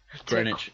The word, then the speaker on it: Greenwich: Greenwich. Oh, is that how you pronounce it?